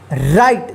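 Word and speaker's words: right: टी इसको क्या पढ़ेंगे राइट देखिए य प आई के जस्ट बाद जी एच आता है तो इस आई का क्या होगा आई उच्चारण होगा और जी एच का कोई उच्चारण नहीं होगा ठीक है चलिए आगे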